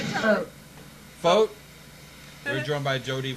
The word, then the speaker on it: Focht: Focht? We're joined by Jodi Focht of Venango?